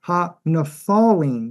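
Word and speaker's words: הנפלים: Actually, ha-nephalim, that's the way it should be pronounced.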